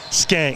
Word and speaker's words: Shank: It's spelled Shank, pronounced Skank.